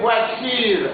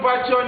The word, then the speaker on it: voiture: Pour aller chez Zénab, les voitures. Attention ici. Il y a beaucoup d'élèves qui disent souvent voiture. Non, non. La prononciation voiture n'existe jamais en français. C'est voiture.